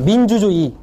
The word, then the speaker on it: 민주주의: 정확하게 할 수 있고요 첫 음절이 아니라 둘째 음절 2로 발음 되더라 주의를 기울이세요 할 때 의로 표현되지만 이로 발음됩니다 그냥 주의를 기울이다 해보세요 주의를 기울이다데 이거를 또 모르시는 분들은 그냥 그대로 있죠 주의를의 의로 발음하는데 그게 아니라 주의로 발음해 주시는게 줍니다 민주주의 민주주의 민주주의 민주주의 이렇게 발음이 편안해지지 마지막으로 조사로 쓰일 때는